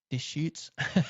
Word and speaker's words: Deschutes: No, it's a place, and I have been there, and I need to remember how to pronounce it. Anyway, Black Butte. Deschutes. It's kind of fun to say. Yeah. Deschutes.